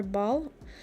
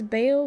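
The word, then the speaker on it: Baal: right oh someone's asking is it pronounced Bale or ball I'm pretty sure it's Bale but uh isn't in the Hebrew is Bal it's Bal yeah yeah okay like there's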